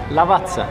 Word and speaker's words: Lavazza: Lavazza.